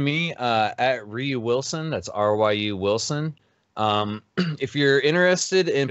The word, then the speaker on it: Ryu: That's R-Y-U Wilson. If you're interested in It's pronounced Ryu. It's debatable. It's closer to Ryan, so I prefer, Ryu.